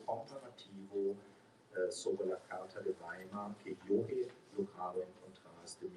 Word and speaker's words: Weimar: Bueno, y la alemana de Weimar, es Weimar, no es Weimar, esto es una buena pronunciación.